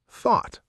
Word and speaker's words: thought: Now, word two, thought. Thought, past tense of think. Right. And in thought, the o u g h makes an aw sound. Thought, like raw or saw.